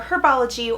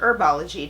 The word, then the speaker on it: Herbology: picture book ok for herbology or herbology depending on how you want to pronounce that word the outstanding challenge is